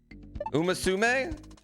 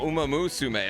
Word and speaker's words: Umamusume: Umasume? Am I saying it that wrong? I'm skipping a syllable? Umamusume? Oh, Umamusume.